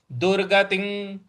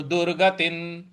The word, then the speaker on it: दुर्गतिं: दुर्गतिन, देखिए दुर्गतिन त पर छोटी की मात्रा है और इसके ऊपर जो अनुस्वार है उसके आगे फिर त लिखा हुआ है। तो इसका उच्चारण हम न ले आएंगे। तो दुर्गतिन, दुर्गतिन, दुर्गतिन इस प्रकार से बोलेंगे।